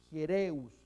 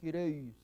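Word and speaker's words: ἱερεύς: dentro de un diptongo, por eso es Hiereus, no Hireus, Hiereus, y sigma final. Himas, aquí en ambos casos, Hiereus y Himas, tiene acento, espíritu rudo, mirando a la derecha, así que suena una pequeña J.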